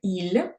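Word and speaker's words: ils: окремо коли чоловіки - це Іль пишеться ільс коли ЗМІ Чоловіки і жінки теж ільс А коли самі жінки наприклад дві сестри буде lль і пишеться Ось так lс повторюйте будь ласка за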